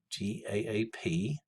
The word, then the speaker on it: GAAP: Of course, we refer to that as GAAP, G-A-A-P, but pronounced GAAP.